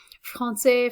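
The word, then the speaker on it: français: women and girls and finally francais this the pronunciations do change a little bit here francais francais is the same whether it's masculine singular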